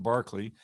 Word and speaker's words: Berkeley: and then next week barkley spelled berkeley like in california but pronounced barkley who's a very great